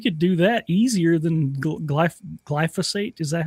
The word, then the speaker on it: glyphosate: Like, we could do that easier than glyphosate. Is that how you pronounce it?